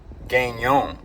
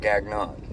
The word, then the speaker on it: Gagnon: Sorry, I've been pronouncing that wrong. Somebody connected me or corrected me in the comments. It's Gagnon. Ben Gagnon. So not Gagnon.